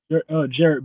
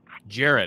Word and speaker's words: Jarrett: Am I pronouncing the first name correctly? Jarrett? Jarrett. Jarrett. Okay. I knew I was pronouncing it wrong.